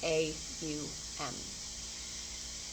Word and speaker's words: Om: So it's spelled O-M, but you want to think of it as A-U-M. And that's also how you want to say it. So your mouth shape will